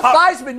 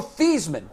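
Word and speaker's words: Theismann: well you got you Joe fman used to be Joe theeman and before his senior year in college at Notre Dame the Sid said well you know it'd be cool if your name which is spelled like Heisman rhymed with Heisman look up that was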